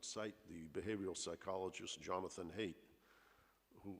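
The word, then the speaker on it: Haidt: the behavioral psychologist jonathan hayt who height is how he pronounces it h-a-i-d-t where he says you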